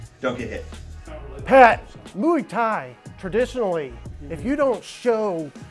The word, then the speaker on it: Muay Thai: fist fights require nutrition are we saying it right louie tied it's muay thai patty's getting married in